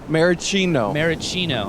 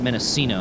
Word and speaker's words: maraschino: Maraschino. I said Mendocino. I wasn't even close. Well, you had the right letters, just the wrong pronunciation.